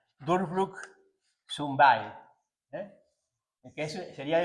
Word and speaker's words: Durchbruch: Se pronunciaría Durchbruch zum Beil, que eso sería el empuje a la mujer, ¿no?